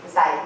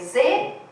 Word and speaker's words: Zweig: Como chave do caráter misterioso de Dostoiévski, é Zweig que pronuncia, alguém sabe alemão aí? Sim. Zweig, né? Escreve Z-W-E-I-G.